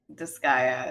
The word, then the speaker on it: Disgaea: kind of tedious so i will not play disgaea is that how you say it yes this